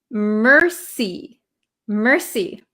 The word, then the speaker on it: mercy: I pronounce this word so this word is pronounced Mercy Mercy so uh if you know French if you